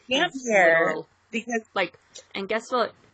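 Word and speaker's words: Damphair: Number one, and again, God rest Roydo trees, but you know how he says damp hair, he says damp fair. He pronounces it like PH.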